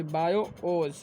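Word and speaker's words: BIOS: बायोज इज़ pronounced यानी कि उसका उच्चारण जो होता है प्रोनाउंस्ड एज बायोज।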